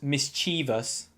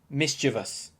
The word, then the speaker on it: mischievous: It's not mischievous, it's mischievous. Mischievous.